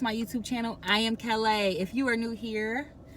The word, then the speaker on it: Kel'a: I am Kel'a. If you are new here, hello. I'm Kel'a. It's spelled K-E-L' long A, okay?